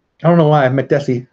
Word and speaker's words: Makdessi: got me mekdeci gray DC just said Makdessi so I guess I'm saying it right I don't know why I Makdessi it's gotta be that right Makdessi ooh Kenyetta it's got